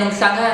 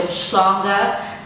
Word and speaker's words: Mhlanga: because for some reason they can't pronounce the in Mhlanga and they say Mshlanga.